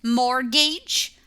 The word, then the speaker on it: mortgage: says making a payment mortgage look that we don't pronounce the T Mortgage is an a